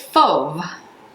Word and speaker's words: Fauve: six months later okay that is fo there's no r there's no e at least the way you pronounce it um i definitely think